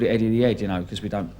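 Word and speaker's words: Eddie the Head: So we called it Eddie the Ed, because we don't, because we're from London, we don't pronounce the H, so we just say Ed, Eddie the Ed.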